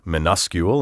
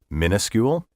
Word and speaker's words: minuscule: minuscule by the way are you wondering why i said minuscule instead of minuscule minuscule and the word minus both come from the latin menos which means smaller and minuscule is spelled